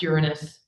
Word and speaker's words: Uranus: The name the the planet is pronounced Uranus. It just just please. Okay. All right. So, I fast forward to the 1970s and we have yet to send any mission to Uranus.